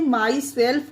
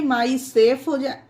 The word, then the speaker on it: myself: इस रूल के भी कुछ एक्सेप्शन है फ्रेंड, जैसे MYSELF, इसे माई सेल्फ पढ़ते हैं, अगर यहाँ पर इसे एल को साइलेंट कर देंगे, माई सेफ पढ़ेंगे तो ये गलत हो जाएगा फ्रेंड।